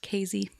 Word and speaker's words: Casey: so this is in casey illinois it's actually pronounced casey you're really good today you're on it thank you casey illinois i've been there that's why you have